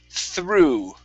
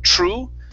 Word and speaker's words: through: So this is through. Okay, I want to practice that THR at the very beginning instead of true. Okay, make sure that you use your tongue between your teeth to pronounce the TH.